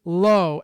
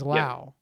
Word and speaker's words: Lowe: So Nate is low and Brandon is Lau.